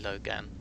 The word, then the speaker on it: Loghan: You can't pronounce Han after it. Even though it's actually Logan. The H is silent.